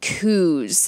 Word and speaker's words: coup: The students were really pissed about the U.S.-backed coups. I believe it's not coupe glass, although it's spelt that way.